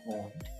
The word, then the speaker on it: wound: जी जी, यही जो मैं पूछ रहा हूँ, वुंड ये क्या है? जख्म। और वाउंड भी होता है, वाउंड भी होता है, वाउंड, वाउंड WOUND same spelling के साथ, लेकिन वाउंड पढ़ेंगे उसे हम।